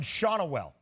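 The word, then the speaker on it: Schanuel: So we have the official pronunciation of the Angels player Nolan Shanuel. Shanuel. I appreciate you trying to give a little bit of flavor to it, Shanuel, but just Shanuel for your guy.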